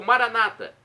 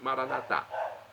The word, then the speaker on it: Maranatá: E agora do aramaico eu clamo, Maranatá. Aramaico, dialeto de Jesus. Ou Maranata, como dizem nossos irmãos separados, os evangélicos ou protestantes. Nós católicos falamos Maranatá. Eles falam Maranata.